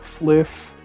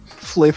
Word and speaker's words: Flyff: We're actually announcing the Thunderclub Fliff server.